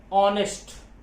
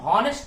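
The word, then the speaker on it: honest: अब यहां पर देखिए पहला अक्षर ये एच जो है, इसको हम हॉनेस्ट नहीं पढ़ रहे हैं, इसको ऑनेस्ट पढ़ रहे हैं। मीन्स एच साइलेंट है, तो साइलेंट होने पर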